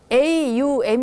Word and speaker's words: aum: 그래서 이제 뭐라고 해야되나 aum 이라고 해서 이제 옴 이라는 게 a 발음도 있고 유박 되고 앰 발음 되고 다 나옴 헤이스케 안